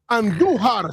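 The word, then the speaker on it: Andújar: Roll your R's when you say Andujar singles in a run, making it 6-1.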